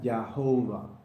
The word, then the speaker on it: Jehová: Cuando encontraban el nombre Yahvé, ellos le ponían las vocales de Adonai, A, O, A, I. En inglés y en otros idiomas, esto hace que la pronunciación sea Yahovah.